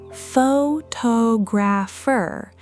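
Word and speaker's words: photographer: Add the -er suffix and it stays roughly the same, pho-to-grapher, though notice the stress has already shifted to the second syllable.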